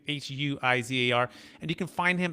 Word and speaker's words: Huizar: And by the way, you can find Juan Huizar, and it's spelled a little different if you're listening, not watching this on YouTube. It's Huizar is the last name, Huizar.